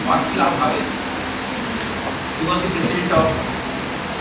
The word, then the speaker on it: Václav Havel: Samuel Beckett was the first person in this stream, and Václav Havel, the spelling is B-A-C-L-A-V-H-A-V-E-L, Václav Havel, the actual pronunciation in Czech is Václav Havel.